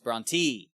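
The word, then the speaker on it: Brontë: It's Bronte. Bronte. Dang it. Dang it. Okay. The umloud over the E means it's E.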